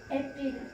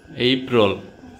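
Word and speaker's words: April: Weil's ডেই এরপরেরটা কি এপ্রিল এপ্রিল এপ্রিল বলতে কোন শব্দ নেই বাংলায় যদিও আমরা এপ্রিল লিখি কিন্তু ইংলিশে উচ্চারণ কি হবে এপ্রিল এইপ্রল ওকে আরেকবার প্রথম থেকে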